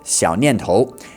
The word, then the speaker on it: 小念头: In Mandarin, we pronounce that Xiao Nian Tou, and it means a little thought or a little idea.